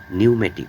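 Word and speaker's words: pneumatic: নিউমেটিক মানে বাতাস চালিত। এখানেও পির উচ্চারণ সাইলেন্ট অবস্থায় আছে এবং ইউ প্লাস জি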